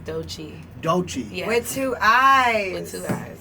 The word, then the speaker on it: Doechii: really pronounce how do you pronounce it it's pronounced douchey dolce yes with two eyes from tampa yes